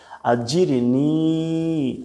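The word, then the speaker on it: أجرني: আছে আল্লাহুম্মা আজিরনি আজির জিম কিন্তু শক্ত করে বলতে হবে আজিরনি আজিরনি দুই স্টেপ মিনান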